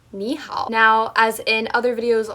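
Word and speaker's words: 你好: both those dip shapes, when you have two dip shapes, which was the third tone back to back, the first one turns into a rising tone. So that's why it's pronounced nihal.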